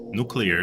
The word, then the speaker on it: nuclear: Speaking of ways of pronouncing words, one of the things that really bugs me is how people pronounce in movies nuclear. Instead of saying nuclear, they say nuclear.